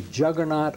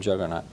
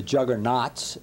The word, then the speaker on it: Juggernaut: And a lot of people call it the juggernauts, and it's not a plural, you know.